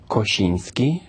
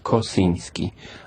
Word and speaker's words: Kosinski: I My name is Koshinski, Polish, but for American should be maybe a little difficult to pronounce Koshinski. So, it's better I say Kosinski.